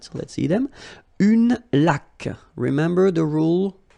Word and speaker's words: laque: Une laque. Remember the rule. When you get this Q-U, well, U is not pronounced. So you get K, like that. Une laque.